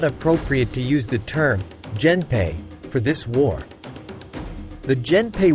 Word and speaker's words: Genpei: The name, Genpei, sometimes romanized as Genpei, comes from alternate readings of the kanji, Minamoto, Gen, and Taira, Hei, pronounced as the second element in some compounds as Pei.